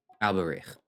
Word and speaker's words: Alberich: Tell me, How did they what do you pronounce know it? about the significance of that name, Alberich? Alberich.